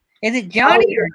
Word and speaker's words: Jonnie: Is it Jonnie or Jonnie? How do you pronounce that? It is Jonnie, just like my dad's name.